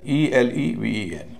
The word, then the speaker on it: eleven: अंत में एक ऐसा शब्द जिसमें ई के तीनों रूप हैं, यह शब्द है ELEVEN, यानी बीच का हिस्सा स्ट्रेस वाला है, उसका उच्चारण वही हो रहा है जो ई का